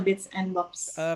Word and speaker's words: Bits and Bobs: Mbak Angela, gue pengen tanya dong, Bits and Bobs ini namanya Bits and Bobs ya, bacanya Bits and Bobs ya. Betul, Bits and Bobs.